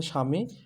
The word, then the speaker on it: স্বামী: প্রথমে এটা বফলা উচ্চারণ হবে না শুধুমাত্র এখানে স্বামী উচ্চারণটা হবে স্বামী স্বামী উচ্চারণ হবে কিন্তু এখানে অন্য